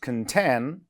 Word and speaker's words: contain: All right, so stress on the second syllable in contain, second syllable in enough.